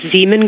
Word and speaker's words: Zeeman: What's the first letter of that word? Zulu. It's Zeeman.